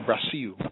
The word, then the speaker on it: Brasil: are coming out of Brazil, or Brasil, as the locals say.